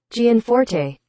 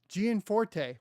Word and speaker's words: Gianforte: I'm curious why my sound's not working oh gianforte gianforte we got it gianforte so Greg gianforte's desk